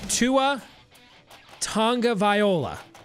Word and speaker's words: Tagovailoa: Tua Tagovailoa.